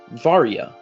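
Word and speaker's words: Varya: Varyia. Her name uh Varia. Va. V A R Y A. Varyia.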